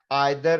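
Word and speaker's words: either: एनी, सम, each, every, आइदर, और इसका pronunciation ईदर भी है, ज्यादातर लोग ईदर कहते हैं, मुझे आइदर कहना अच्छा लगता है, ये दोनों ही प्रोनाउंसिएशन ठीक है।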